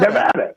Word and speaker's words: Nevada: it right I think I'm saying it yeah Nevada Nevada yeah ex you you you're pronouncing it correctly Mr President you got that